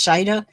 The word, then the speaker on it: Shaeeda: The way her name is spelled, you would think it'd be Shaeeda, but it's Shaeeda.